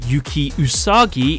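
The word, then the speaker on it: 幽鬼うさぎ: Ghost Ogre and Snow Rabbit, pronounced Yuki Usagi in the Japanese.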